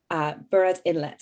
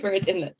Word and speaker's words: Burrard Inlet: No Good Brother, and the short story collection, Burrard Inlet. I hope I'm pronouncing that right, Tyler. Does that sound right? No, that was good. Burrard Inlet.